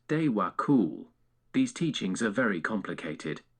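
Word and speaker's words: Djwhal Khul: The Old Tibetan is sometimes also called Diwa Kul, pronounced Dewa Kul.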